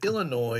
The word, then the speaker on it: Illinois: messages telling me that noi is uh pronounced without the S anyways down on the